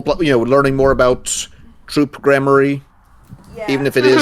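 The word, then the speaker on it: Gramarye: I looked it up. It's grammary.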